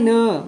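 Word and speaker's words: know: फॉक्स कहता है आई नो मैं जानता हूं नो मतलब के एओ डब् नो होता है आप तो क सर के एनड तो हो ही नहीं रहा है कनो होना चाहिए के यहां पे साइलेंट है ए इसे क्या बोलेंगे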